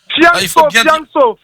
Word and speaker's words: Fianso: Fianso. Voilà, Fianso, parce que j'ai entendu Fiasco, en fait.